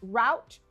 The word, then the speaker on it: route: It can either be pronounced route or route. I prefer route.